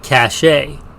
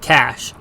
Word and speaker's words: cache: Some may pronounce it cachet. I pronounce it cash, and will throughout this episode.